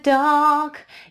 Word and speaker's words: dark: не in the dark, и re не произносится в слове dark, потому что оно перед согласной, in the dark, in the, у вас уже язык встает уже между зубами, in the dark, да, вот, dark, долгий, а, но здесь вот в